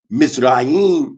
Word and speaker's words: Mizraim: Mizraim is, or pronounced Mizraim, means the embanker of the sea, talking about Menes the first.